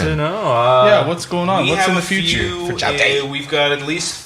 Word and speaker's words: JAODAE: JAODAE, great band. They sweet guys. It's the accent on the jow. Jow on the day.